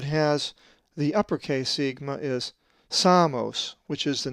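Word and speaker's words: Σάμος: A Greek word that has the uppercase sigma is Samos, which is the name of the island of Samos, and is number 4544.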